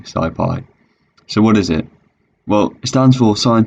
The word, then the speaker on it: SciPy: sci-fi in python and some people might want to pronounce this skippy but really don't it's definitely sci-fi so what is it